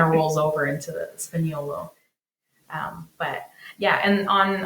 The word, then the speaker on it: Spagnolo: the difference it's it's the GN the Italian GN the G is kind of Silent like lasagna sp sp it say like the end kind of rolls over into the spinolo um but yeah and